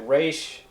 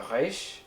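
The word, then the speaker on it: רֵישׁ: I pronounce it resh, but some people pronounce it more in the throat like a reish.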